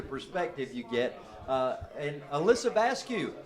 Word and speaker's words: Vasquez: And Alyssa Vasquez, her dad told me the exact way to pronounce that. So it's just like barbecue, Vasquez.